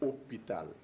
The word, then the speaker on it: hôpital: Quand je dis hôpital, le H est muet, mais héros, le H ici est aspiré.